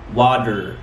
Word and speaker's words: water: طب افرض بقى جت بين صوتين متحركين نعمل ايه؟ نقلبها لداء ساوند. اوكي؟ زي كلمة ايه؟ سهلة جدا. ما تقولش مثلا مياه يعني ايه؟ لا تقول water water water bitter bitter bitter water.